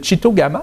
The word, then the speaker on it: Tchitogama: Course internationale de traîneau à chien de Chitogama, c'est bien ça? Oui. Je l'ai bien prononcé.